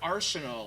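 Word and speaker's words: Arceneaux: a guy named Eric Arseno I think that's how you pronounce his name it's a French last name but oh that would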